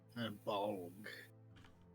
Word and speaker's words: Bolg: Bolg. BOLG. Yes. Okay. I did spell it right.